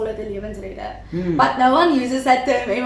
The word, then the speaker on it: Levensredder: name proper, so I would like you to pronounce it for me. So my most recent single, it's called Levensredder. You can do it. Radar. Yeah, well done. You can do it. Levensredder, it means lifesaver or lifeguard.